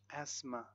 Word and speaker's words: asthma: Silent T in words like listen, castle, valley, soften, soften, gourmet, gourmet, asthma, asthma, Christmas, whistle. Silent U in words like guitar, guilty, guard, colleague, and guess.